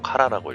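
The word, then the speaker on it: 唐: 카라, 이렇게 당이라고 쓰고 카라라고 읽고요.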